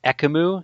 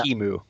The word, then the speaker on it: Ekimu: I mean, I don't want to call you out on this, but earlier you mentioned Ekamu. It's pronounced Yeah. Ikimu.